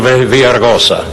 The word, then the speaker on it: Villaraigosa: I want to thank Councilman Tom LaBonge, Council President Gil Garcetti, all the members of the City Council, and Mayor Antonio Villaraigosa. I think I pronounced that correctly.